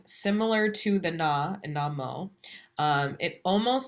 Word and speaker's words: Namo: Next is Namo. So the na is a short syllable and the mo is stretched out.